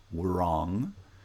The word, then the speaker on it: wrong: a is a historical fact we we don't pronounce wrong though historically there was a time when there